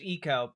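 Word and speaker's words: Ico: Also, I do know that the name of the video game IO is supposed to be pronounced Eco, but I refuse to say it right on principle.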